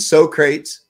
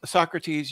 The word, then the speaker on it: Socrates: he signed it on there you can and so crates he he he signed his too what about copik it's pronounced Socrates you ignor it's so crates can't you read